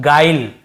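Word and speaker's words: guile: देखिए इससे हम पढ़ रहे हैं गाइल है ना गुल या गुले ऐसे नहीं पढ़ रहे हैं।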